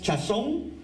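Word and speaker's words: חזון: No, realmente se pronuncia más o menos así. No hay chazón sin chazak. No hay chazón sin chazak. Bueno, los judíos parece que viene más para adentro, no solamente por la boca así, sino por adentro, no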